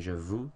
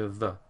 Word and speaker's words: veux: In regards to pronunciation, some people have a tendency to say je vous, tu vous, il, elle, on, vous. But this isn't correct. EU makes an E sound. Je veux, tu veux, il, elle, on veut.